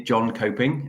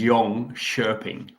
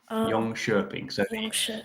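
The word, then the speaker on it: Jönköping: So the actual Swedish way of saying it is yong shing. Yong sherping. The O with the out has a funny sound Yong Sherping.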